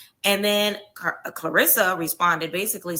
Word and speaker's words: Claressa: Claressa to be on Zeus, to do like some